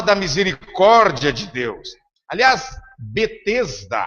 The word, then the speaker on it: Betesda: Carioca pronunciaria bem, né? Bet-esda.